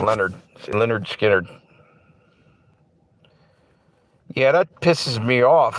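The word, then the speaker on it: Lynyrd Skynyrd: Yeah, it's spelled L Y. N Y RD, believe it or not, Leonard. See, Leonard Skinnard.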